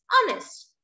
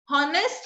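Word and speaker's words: honest: एन ई एस टी, ऑनेस्ट। उसको हम क्या बोलेंगे, हॉनेस्ट नहीं बोलते हैं हम, क्या बोलते हैं, ऑनेस्ट। तो एच का साउंड यहाँ पे क्या है, साइलेंट है, एंड यहाँ पे इसके सामने क्या बोलते हैं, एन ऑनेस्ट।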